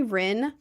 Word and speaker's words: Rin: And then my nickname, everyone calls me Ren R I N. I only spell the nickname with an I just because I like the way the lowercase I looks.